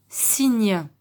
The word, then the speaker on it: cygne: Et enfin, le dernier mot, on va encore une fois prononcer la lettre Y comme si c'était un I. Donc on va dire le cygne.